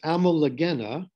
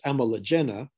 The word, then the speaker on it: Ammolagena: And this is the genus Ammolagena, or if Maria Rose, Ammolagena, if I use the Italian pronunciation, is known from the Middle Ordovician.